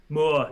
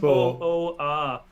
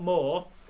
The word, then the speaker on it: Moor: Spell it. Moor. That's it. MOOR. Not more. Moor.